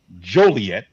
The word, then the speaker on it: Joliet: I had to go up to let me pronounce it correctly Joliet there you go Bud you're not going to